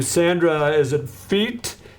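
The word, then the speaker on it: Fiete: Is it feet? F I E T E from Gavilla. Yes. Center feet.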